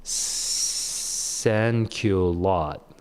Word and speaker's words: sans-culotte: Sans culotte. It's like thank you lot. Thank you lots. Thank you lots. Okay. Sans culotte.